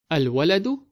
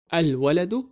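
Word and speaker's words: الولد: Al-waladu faqirun. Notice the word waladun starts with qamariyya letter. So we need to pronounce the letter lam of al. Al-waladu faqirun.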